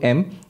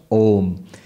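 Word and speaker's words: ओम्: that's not correct because by the rules of sanskrit grammar when you bring a and u together it becomes o so om is the correct pronunciation pronounced together becomes om now what the upanishad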